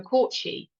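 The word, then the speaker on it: Cat Sìth: Scottish and Irish mythology the court she phonetically spelled in the English tongue as cat spit this magical creature resembles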